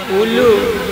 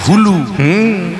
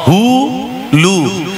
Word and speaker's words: হুলু: উলু। উলু উলু বইতে লেখা আছে হুলু, হ হ হু লু, আর আমরা ভুল উচ্চারণ করি উ লু। এবার থেকে বলবেন হুলু।